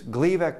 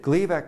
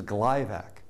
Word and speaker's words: Gleevec: they had a problem, that Gleevec was going to get mispronounced as Glyvac, and that meant that it was going to get confused with the number of diabetes drugs that were on the market, like Glyburide and others.